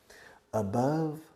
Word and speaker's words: above: Now listen, you Spanish people always make mistakes in your pronunciation of above. You say above and many other ways. Above rima with love. Okay? Above love.